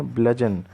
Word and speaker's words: bludgeon: ब्लजन को का प्रोनाउंसिएशन ध्यान से सुनिए। ब्लजन।